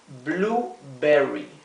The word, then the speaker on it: blueberry: Berry valla en inglés Cuando tenemos esta combinación de letras la u y la e esto generalmente se pronuncia u como la u nuestra blueberry raspberry es frambuesa nuevamente